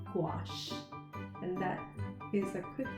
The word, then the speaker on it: gouache: use watercolor based paper gouache has a word pronunciation how i remember just to call it i would say squash like the squash we eat but instead of saying a scoop i put good gouache and that is